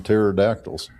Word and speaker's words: pterodactyls: Uh got to watch out for them pterodactyls. Yes, sir. If there if they were anywhere, it probably be out here. Yep. Yep. The P is silent.